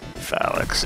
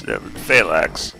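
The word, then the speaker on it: Phalanx: 90s uh with the phallics and uh phalax actually he's pronouncing it wrong sounds like false phalax uh it's basically what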